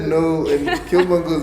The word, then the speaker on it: Killmonger: Bukamanga, how do you pronounce it? Killmonger.